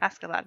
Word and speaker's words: Askeladd: Askeladd? Is that how you say it? And Askeladd, yeah.